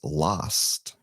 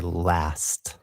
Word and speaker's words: last: The first reason I did it was that so people could hear the difference between our vowels, right? So my pronunciation of that word is last. And I would say last.